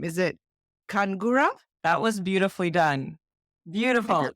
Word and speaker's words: Khungara: is it I'm gonna I'm gonna attempt to pronounce this last name is it kangura that was beautifully done beauti yeah is like